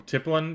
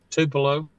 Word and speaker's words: Tupelo: five uh, five five miles or so from Tiplin, you said. Tupelo. Tipo. Tip. I'm pronouncing it wrong.